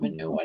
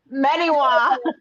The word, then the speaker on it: Menewa: Oh, well, it's not manure. Now I can't say it right. Dang it. Menewa.